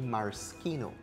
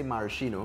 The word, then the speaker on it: maraschino: do you pronounce this maraschino so the proper pronunciation in italy is actually maraschino yeah yeah but we tend to say maraschino but in trinidad so